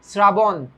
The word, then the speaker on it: শ্রাবণ: উচ্চারণটা হচ্ছে তালব্য স এর মতো।